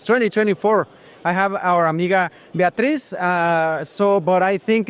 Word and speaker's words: Beatriz: I have our amiga Beatriz, but I think it's not the right pronunciation. Beatriz, yeah, it's okay. You do it a little bit different in Portuguese. Beatriz?